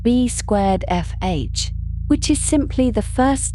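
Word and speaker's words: B²FH: And it is often referred to by the shorthand B squar FH pronounced B squar FH which is simply the first letters of their surnames arranged in a way that is easy to remember.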